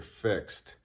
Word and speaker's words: FXD: Just some quick thoughts, inputs on the new release from Tudor, the Tudor FXD, or I've also had it pronounced the Tudor Fixed, which is Tudor's collaboration with Marine Nationale, the French Navy.